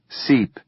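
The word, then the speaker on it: SSEEP: S-S-E-E-P, pronounced seep, like we're seeping into policy.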